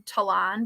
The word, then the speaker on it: Talon: that my entire life my name being tolan but spelled exactly like talon so i feel your